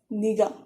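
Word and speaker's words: 네가: no no no but when identifier particle comes once again it changes and it is written as the a is usual but you would read it as nida you would literally read it as niga that's uh that's why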